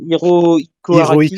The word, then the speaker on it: Hirohiko Araki: C'est Hirohiko Araki, Hirohiko je sais pas si je le Araki.